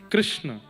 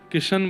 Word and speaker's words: कृष्ण: नाम कृष्ण रखा गया कृष्ण इस शब्द का उच्चारण कई लोग शुद्ध नहीं करते क्योंकि शुद्ध कर लेंगे तो फिर भगवत प्राप्ति हो जाएगी इसलिए सब लोग इस नाम को कोई किशन बोलता है कोई कृष्ण बोलता है कोई कुछ बोलता है